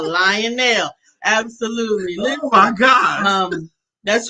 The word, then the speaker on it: Lionel: It's lion. Lion nail.